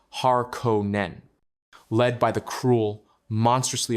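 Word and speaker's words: Harkonnen: In stark contrast to the noble at Trades stands their ancient rival, House Harkonin, pronounced Haron Nen.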